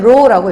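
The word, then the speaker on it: ρ: 그리고 읽을 땐 row라고 읽죠. 그쵸?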